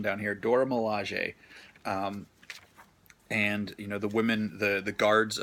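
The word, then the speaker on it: Dora Milaje: milege a I guess they have a little pronunciation down here Dora Milosh a and you know the women the the guards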